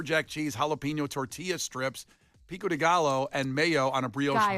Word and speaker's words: pico de gallo: eggs, avocado, pepper jack cheese, jalapeno tortilla strips, pico de gallo, and mayo on a bio bun. What' I say? Butchered. Pico de gallo. Yeah. What' I say? G. What did you say? Gallow.